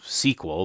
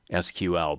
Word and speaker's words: SQL: for structured query language many people pronounce this as sequel but my understanding is that sequel spelled out is another query language so i'm going to try to remember to call this thing sql but i'll probably forget